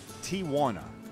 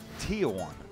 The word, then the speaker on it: Tijuana: things first it's pronounced Tiana not Tiana there's no a in the middle in any case Tiana